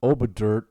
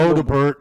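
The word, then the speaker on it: Odobert: to pronounce his name, Wilson Oberdurt. That's not right. First of all, there's a D before a B, so if at anything Odebert. that would have been a better bad pronunciation.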